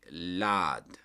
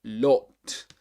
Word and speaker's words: lot: You get, for example, lot in British English, and American English, you pronounce it differently. You say lad, lad, with this R, lad, lad, a lad, a lad, but the British will say lot.